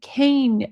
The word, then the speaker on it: Kane: Oh, my name is pronounced like Candy Cane. Kane.